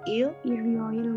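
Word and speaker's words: 일요일: Worioil. Irioil. Worioil. Jadi R-nya naik ke samping karena dia vokal.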